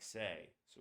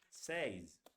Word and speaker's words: says: it's not pronounced like says. It's pronounced like this. Says. A single vowel like that and a Z.